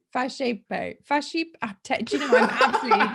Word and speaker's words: Fasipe: Now, we've just been pronouncing this Fasipe. I've said it wrong already, haven't I? You tell me what it is. It's Fasipe. Fasipe.